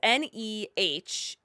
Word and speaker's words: Nehemiah: Maybe hold on, because I think when I reviewed the movie, I definitely I said the name wrong. It's Nehemiah.